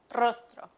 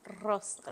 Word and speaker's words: Rostro: say your last name rostro rostro you got to roll the RS rostro rostro okay okay they